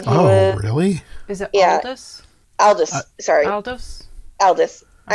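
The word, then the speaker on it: Aldous: oh my gosh I'm say it right uh aldris Huxley he wrote A Brave New world and he oh really is it Aldis Alis sorry Aldis Aldis I have a prise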